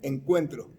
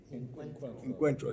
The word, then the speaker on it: Encuentro: that has been developed by USCCB called Quinto Encuentro, the fifth encounter of Catholic Latinos. How do you pronounce it again? Quinto, which is fifth. Yeah. Encuentro. Encuentro, yeah.